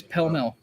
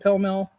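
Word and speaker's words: Pall Mall: because you could still do those and they pronounce it it is pill mill that bothers me it does but it's pillow mill they pronounce it pill mill that's what it is uh raider jna question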